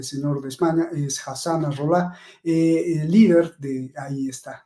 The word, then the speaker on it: Nasrallah: La gente que sigue a Nasrallah, porque lo pronuncia mal este señor de España, es Hassan Nasrallah, el líder de, ahí está, ahí lo estamos